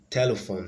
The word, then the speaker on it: telephone: completely ruled out then D telephone has distressed on the first syllable there is no correlation